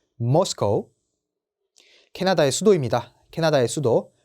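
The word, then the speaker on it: Moscow: 모스코우라고 읽어주시면 됩니다. 러시아 분들은 요거를 모스크바라고 읽어주시지만 저희는 모스코우라고 읽어주셔야 돼요. 모스코우.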